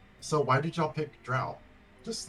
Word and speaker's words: drow: So Tin and Savannah, y'all both play Dark Elves or Drow. How do you Yes.